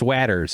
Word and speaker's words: Watters: It's Watters is how you pronounce it if there's two T's.